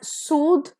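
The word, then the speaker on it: soothe: पेर इज सूथ एंड सूद सो जिसमें ई नहीं है that will be pronounced as सूथ और जिसमें ई है it will be pronounced as सूद द आ रहा है तो सूथ विदाउट ई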